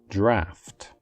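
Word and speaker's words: draught: and as an adjective it is also typically spelled differently in American English where the ugh are swapped for an F the correct pronunciation is draft draft for example an open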